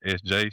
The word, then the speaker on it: Eszjay: So, uh, my name's SJ obviously, but it's spelled E S Z J A Y, so it's spelled out.